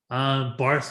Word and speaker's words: Barth: of anglicize their names the pronunciation of my name is anglicized barth is an americanization it's not the german uh bavarian pronunciation that my grandfather would have used um and many